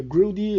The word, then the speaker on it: Hrudey: Na verdade, eu acho que a pronúncia correta seria Hrudey, esse HR. Eu acho que vem ali do oeste europeu. E o H tem som de G.